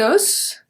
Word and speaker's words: os: And the last one, we have un os, so here we pronounce the S at the end. Un os, des os. We don't pronounce the S at the end. Un os, des os. So here is going to be the closed O, and here is going to be the open O, the soft O.